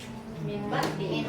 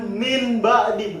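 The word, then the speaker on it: مِنْ بَعْدِ: Nah, dibacanya Mimba diin tadi. bukan min ba'di, bukan min ba'di, tapi jadi mim ba'di.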